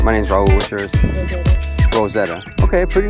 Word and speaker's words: Rozetta: Mine's spelled with a Z though. Oh, really? R-O-Z-E-T-T-A. Rozetta. Okay. All right, Rosetta.